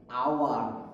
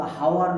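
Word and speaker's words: hour: এটা কি আওয়ার, আ, আওয়ার, এটা কিন্তু হাওয়ার না, আওয়ার, আ, স্বরধ্বনি এন বসবে।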